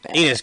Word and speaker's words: Enes: I said his first name wrong. Enes Cantor. You said Estes.